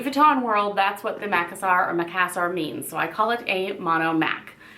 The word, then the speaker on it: Macassar: So this is my Keepall 45B, which means bandolier or bandolier, in the monogram Macassar or Macassar, whichever way you want to pronounce it.